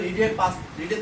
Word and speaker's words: read: she told me that she had read a book, আমাদের জানতে হবে রিডের তিনটা form, রিড, রেড, present form যা, পাস্ট ফর্ম স্পেলিং তাই, পাস্ট পার্টিসিপল ফর্ম স্পেলিং তাই, কিন্তু উচ্চারণটা ভিন্ন।